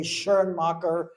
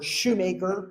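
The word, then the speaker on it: Schoenmakers: And then in Dutch or Flemish that would be Scoomachers. Some people will pronounce it the German way. Shernmaker or shoemaker.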